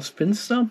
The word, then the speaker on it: Sphincter: Wie ihr gestern mitgekriegt habt, kann man jetzt bei mir wieder eine neue Vinyl vorbestellen, und zwar die von Brutal Spinster oder Spinster, wie das ausgesprochen wird, aus diese Grindcore-Band aus dem Raum Belgien, wo die herkommen, ne?